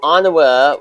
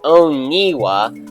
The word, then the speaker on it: Anawa: Although I used to think that Anawa was pronounced Oniwa until I heard it pronounced as it actually is in the Mata Nui character guide on the Mask of Light DVD, and in the opening narration of Legends of Metru Nui.